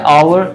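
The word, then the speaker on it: hour: इन्होंने वर्ड पूछा है आवर, एच उसका प्रोनाउंस नहीं होगा, तो ये सही बोला इन्होंने आवर।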